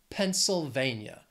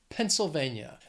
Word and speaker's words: Pennsylvania: It has four syllables, stresses on that third syllable. Pennsylvania. Pennsylvania.